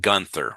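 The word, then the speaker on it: Günther: So you have heard of the German name we would pronounce it Gunther right? The Germans would pronounce it gther. So the th sound for them was a t sound and therefore to say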